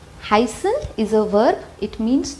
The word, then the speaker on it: heißen: Zum Beispiel, heißen. Heißen is a verb, it means to be called. You see, heißen. I am making the S slightly sharp.